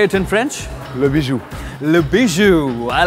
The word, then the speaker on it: Le Bijou: Le Bijou.